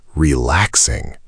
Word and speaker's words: relaxing: Third, relaxing. Relaxing. Stress on the second syllable. Relaxing. Notice the X sounds like KS.